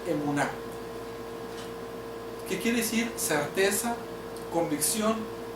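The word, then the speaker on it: אמונה: La palabra fe en el hebreo se pronuncia emuná, que quiere decir certeza, convicción y sobre todo fidelidad.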